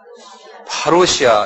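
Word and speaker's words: παρουσία: 한번 발음해보세요. 파루시아 이렇게 말해요.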